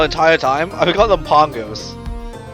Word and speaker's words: Pango: Is it Pango or Pongo? Someone didn't tell the Vela person how to pronounce it. Push it's Pongo actually, because I'm pretty sure in the other games they always say pronounce it Pongo.